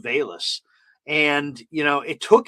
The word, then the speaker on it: Velus: on his feet uh it's spelled v-e-l-u-s his first name but it's pronounced bayless and you know it